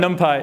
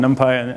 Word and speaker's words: NumPy: If you want to do fast numerics in Python, everything depends on NumPy. And yes, it's pronounced NumPy, not NumP. Everything depends on NumPy.